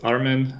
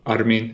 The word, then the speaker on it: Armin: is your daily job my name is Armen or Armin if you want the the real proper pronunciation but I'm fine with Armen or you know whatever people are comfortable with I'm in Berlin